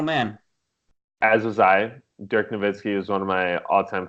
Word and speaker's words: Nowitzki: in their heads that a W in German makes a V sound in the English well not everyone's been